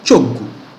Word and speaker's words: Choggu: This is the ch. The ch sound is the same in Malay language, in Malaysia, and the same in Italian also.